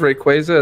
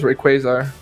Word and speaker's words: Rayquaza: I know that that pronounces Rayquaza as Rayquazar. I do it both ways. I got Rayquazar a bunch of ways. Rayquaza. Well, no, it interests me because there's no R besides like the first letter of his name.